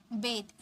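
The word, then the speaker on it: bathe: स्नान करना यानी कि बेद इसे हम बात नहीं बोलेंगे बेद बेद मतलब स्थान करना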